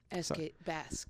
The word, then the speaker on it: Bakst: And it's Bask. It's BAKST is how you spell it. Oh. But they always spell it BASKT because it seems Basque is like a word you know.